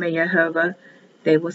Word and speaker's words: Yehovah: Yehovah. Yehovah. Yehovah. Or Y, H, V, H is the abbreviated form. The Orthodox Jews won't say the name of Yehovah.